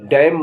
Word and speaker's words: damn: DAMN, डैम माने बदुआ देना। टी से साइलेंट होने वाले वर्ड्स HASTEN, हेसन माने जल्दी करना।